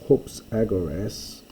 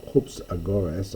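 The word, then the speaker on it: ὑψαγόρης: is a vocative from hops aoras or Hoops aoras I should say with the accent on the Omicron a a high speaker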